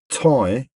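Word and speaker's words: Thầy: Basically, it's Tai, but not spelled T AI. It's spelled T H A Y, I believe.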